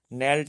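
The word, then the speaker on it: knelled: letter in the word नेल्ड इज नेल्ड में जो है ना साइलेंट लेटर कौन सा है तो जब के और एन एक साथ आ जाते हैं तो वहां पर के साइलेंट रहता है हमेशा इस बात को ध्यान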